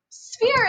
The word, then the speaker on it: sphere: closest to a sphere sphere is a weird word because it sounds like a f sound at the beginning but there's no f in the word sphere is s b h e r e sphere the ph also can make an f sound a globe is round